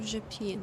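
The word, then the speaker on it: Rzepin: ride from Berlin to japine it is the correct pronunciation by the way and it was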